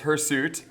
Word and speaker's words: hirsute: It's hirsute. And just like I mispronounced Fatima's name, we can mispronounce hairsuit and call it hirsute, and now we know a new vocabulary word.